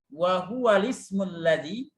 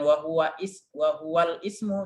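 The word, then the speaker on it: وهو الاسم الذي: scene musik care wahuwal wahuwal ismulladzi ini juga bacanya buah Wallis wahuwal ismullazi bukan wahuwa ihwal Ismu tapi wahuwal ismulladzi wahuwal ismullazi kalau susah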